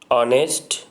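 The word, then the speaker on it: honest: That the word are ऑनेस्ट air begin with a vowel sound. ये vowel sound से start हो रहा है। एज the initial consonant H इज़ not pronounced, H का pronounce हम नहीं करते हैं, तो इसके पहले हम एन का यूज़ करेंगे।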